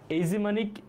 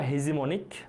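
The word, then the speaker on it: hegemonic: এটা বেশ গুরুত্বপূর্ণ শব্দ এইমনিক বা হেজিমনিক দুইটা উচ্চারণই করে বাট এইজিমনিক সঠিক মানে এইচ কে একটু সাইলেন্ট রাখতে হবে এখানে যেমন অনেস্ট এমন এজিমনিক স্টেবিলিটি থিওরি বলতে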